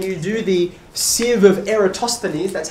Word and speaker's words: Eratosthenes: go through and you do the sieve of eratosthenes that's how you pronounce it by the way see the i